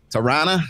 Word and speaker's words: Toronto: is in Ontario or Toronto or Wichita yeah we don't do syllables up here you don't do Tarana yes I got Michael